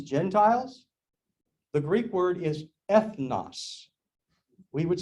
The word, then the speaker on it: ethnos: nations it means gentiles the greek word is ethnos we would spell it e-t-h-n-o-s ethnos you think can you think of an